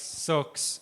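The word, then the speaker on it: SearX: search engines that I would recommend is uh one is s e a rx circs I think it's pronounced it is open source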